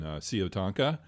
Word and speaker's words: Siyotanka: Before we go any further, congratulations, man, on Siyotanka. Am I pronouncing that right? Yes, you got it perfect.